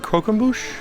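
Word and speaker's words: croquembouche: buet kroe so I asked them how to pronounce it they said kmush so there it is chocolate Hazelnut and and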